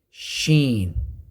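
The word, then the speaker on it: ش: nail see next letter sheen same as the letter g but with the sound of shh as in sheep now what's the uh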